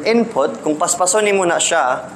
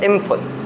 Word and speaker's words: input: example the word input in Rapid pronunciation of the word input eventually you will pronounce it as input no i m p u t instead of i n p u t from input input input it sounds more like an input okay so what's the